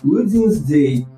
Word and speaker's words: Wednesday: Esse E tem um sonzinho de I, tal qual em inglês, Wednesday.